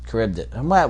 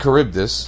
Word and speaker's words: Charybdis: In Greek, the CH is always K, just like Italian.